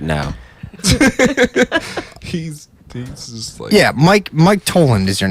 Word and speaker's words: Toland: yeah I'm sleeping right now yeah Mike Mike toland is your name is that correct that's how